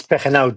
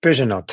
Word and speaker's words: Pegenaute: It's Pegenaute. It's a Spanish name. Not easy to say, Pegenaute. Yeah. Okay. Muchas gracias. You saved me from pronouncing that. Gracias, Joe. Yeah, I know. It's a hard one. In French, they say Pegenaute. So, I kind of have both versions there going for me.